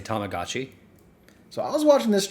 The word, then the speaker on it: Tamagotchi: Yeah, no, we just say it like Americans, but we've said it as Tamagotchi, like and everybody has said it around as Tamagotchi, so it's going to be Tamagotchi.